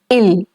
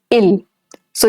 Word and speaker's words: il: he, that, and the il that we are using over here, the spellings are different, but the pronunciation is same. It's il and not ils.